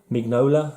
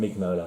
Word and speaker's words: Mignola: no lies a certain Mignola let's pronounce the G it's not like a silent G Rocky's French or something